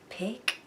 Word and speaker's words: picture: Picture. Now when I say ture, it almost sounds like you're gonna need a CH, but actually the sound ture in picture is spelled with a T-U-R-E.